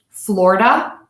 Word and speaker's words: Florida: to four so let's listen to the difference Florida Florida Florida Florida and let me show you